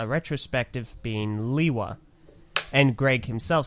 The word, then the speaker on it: Lewa: Lewa is how the team in Denmark pronounced it.